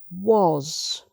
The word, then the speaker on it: was: Gas, has, jazz, was. So o again.